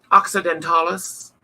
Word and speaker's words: occidentalis: it's the Pocono mermix occidentalis occidentalis um is how it's pronounced and she is got